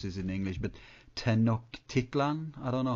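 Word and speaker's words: Tlön: this in English but ten Tian I don't know how you say it in English yeah well we I pronounce it and we usually pronounce it here tan tlon um okay which was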